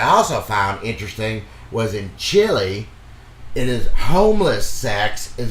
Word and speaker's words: Chile: And I pronounced that correctly, Chile, right? That's how you do it. Not chili.